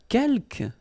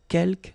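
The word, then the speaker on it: quelques: Uh keelk you don't pronounce the final s here. Kelk means few.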